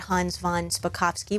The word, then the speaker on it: Hans von Spakovsky: Actually, despite what Hans von Spakovsky, which if you say it slowly, you can say it correctly, I just learned, despite his wishes not